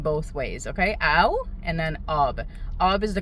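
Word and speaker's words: آب: Ob. Okay, that's the correct formal way of saying water. OB.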